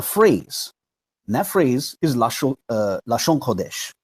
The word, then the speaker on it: לשון הקודש: And that phrase is Lashon Quadash, right? But that's the phrase that they use. They would pronounce it Lashawan Quadash.